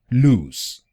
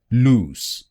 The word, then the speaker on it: loose: The first word, loose, is pronounced loose, loose, loose.